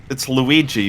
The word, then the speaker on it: Luigi G: I mean, it's Luigi, but with 2 G's.